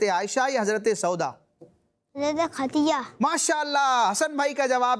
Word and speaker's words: خدیجہ: حضرت خدیجہ۔ ماشاءاللہ، حسن بھائی کا جواب بھی درست ہے۔ یہ ختیجہ نہیں بلکہ اس کا تلفظ کیا ہے؟ خدیجہ، دال کے ساتھ، خدیجہ۔ کیا ہے؟